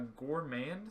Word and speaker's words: gourmand: It's Gourmand. like yeah. Okay.